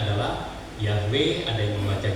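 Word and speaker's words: Yahweh: nama Tuhan itu tertulis Ya seperti ini ya dibacanya adalah yahwe ada yang membaca yehwa ada yang menaca Yehova ada ya jeahova dan lain-lain eh ada film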